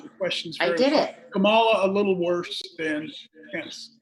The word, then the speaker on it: Kamala: tell frank you guys it's kamala that's how you pronounce senator harris's name yes i acknowledged that